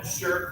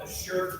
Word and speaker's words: Azure: DPR has agreed to host the enterprise system based on the Arches open source data management platform through its Microsoft Azure cloud environment.